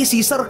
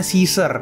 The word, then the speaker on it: Caesar: pesona Yahoo ketulusan sesar tapi sizer kayak gunting Caesar keoperasi Caesar gak enak banget dibacanya tapi nih jadi tulisannya Cae s a r Kaisar tapi kalau Inggris sebutannya sizer Oke lanjut di musim